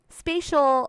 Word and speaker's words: spatial: something called spatial order spatial sounds like the word space and that's because spatial